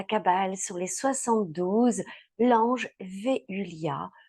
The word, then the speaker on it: Veuliah: sur les 72, l'ange Véulia. Vous pourriez le prononcer également Véulia et certaines personnes disent Veulia. Donc, Véulia, en fait, est l'ange qui va nous accompagner du 24 au 28 octobre.